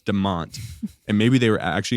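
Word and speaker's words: DeMotte: It's not Demote, even though that's exactly how it's spelled. D E M O T E. It's pronounced Deont.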